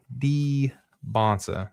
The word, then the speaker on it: Dybantsa: AJ Dybantsa. That's how we have to pronounce that. Emphasis on the D, and then it's a Bonsa sound, okay?